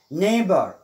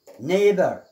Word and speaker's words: neighbor: neighbor، neighbor neighbor. night، night GH صامتة. hi نفس الشيء، hi لم ننطق بالGH صامتة.